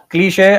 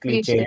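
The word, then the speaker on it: cliché: Cliche. I'll tell you what it is. The pronunciation is cliche. Okay. It's not cliche or clich.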